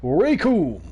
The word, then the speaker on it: Raycoom: The name's Raycoom. It rhymes with doom.